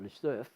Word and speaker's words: Lesueur: So Perron and Lesueur were, actually they pronounce it Lesueur, but anyway, were great mates.